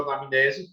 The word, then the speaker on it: anamnese: Na igreja, a gente usa essa palavra grega, anamnesis ou anamnese, pode ser as duas pronúncias, para dizer, é uma memória atualizada.